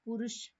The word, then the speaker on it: परुष: पर पुरुष नहीं ये परुष है। परुष। ठीक है? प्रोनाउंसिएशन पे देखो ध्यान देखो। पुरुष कहते है प के पैरों में ऊ की मात्रा है। आदमी वाला पुरुष नहीं है। परुष है। कठोर डिफिकल्ट के लिए।